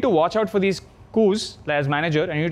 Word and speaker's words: coup: to is I've seen companies go through a coupe a coup is how you pronounce it actually these are like cancers where